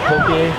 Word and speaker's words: poke: We went to the beach to eat poke. Hey, he said poke, not poke. Yeah. You got it.